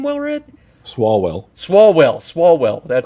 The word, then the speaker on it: Swalwell: Last name was Slowwell, man. You would have caught so much shit in school. It's slow. It's like I can't. How do you say his name, Wellred? Swalwell.